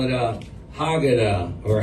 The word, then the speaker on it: Haggadah: And Call it a Haggadah, or how do you say it in Hebrew? Haggadah.